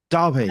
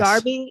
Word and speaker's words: Derby: I Derby. don't, Yes. Darby.